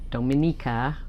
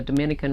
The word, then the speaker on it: Dominica: So many people think that Dominica and the Dominican Republic are the same place. They are not. So, and you don't even pronounce the first part of their name the same.